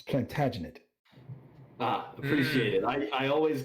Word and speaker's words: Plantagenet: sir edward or soon to be sir it's plantagenet appreciate it i i always get the syllables mixed up i had um one of